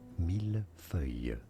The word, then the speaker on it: millefeuille: For reference, in French it is said as millefeuille, silent S.